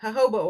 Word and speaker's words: jojoba: Ho, ho, Jojoba oil. Jojoba. ho, ho, ho, It's like ho. hobo oil.